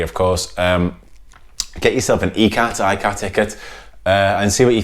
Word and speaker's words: ikat: Whilst you're enjoying it, whilst you're enjoying your ee-kaht, the real pronunciation is ee-kaht, stick on Purple Haze by Jimi Hendrix, because that song sums this beer up perfectly.